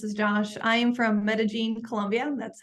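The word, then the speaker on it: Medellín: Dan and this is Josh I am from metagene Columbia that's how you pronounce it thank you and yeah so like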